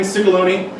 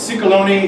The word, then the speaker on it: Ciecalone: So, if you need to remember it, you can think of stick of baloney or sick pony or something like that.